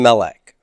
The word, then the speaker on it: melek: be M-E-L-K, and the accent's on the E here, and that's a cough with a silent shava there, and there's no dagish lene here, so it's the fricative cough.